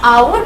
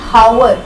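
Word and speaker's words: hour: नाउ आवर begins with H बट एज़ you know कि आवर में H silent होता है। वी डू नॉट एक्चुअली से एन हावर वी से एन आवर एंड एज़ a result H is silent.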